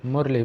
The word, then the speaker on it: Murli: The knowledge is called Murli, which is spelled M-U-R-L-I.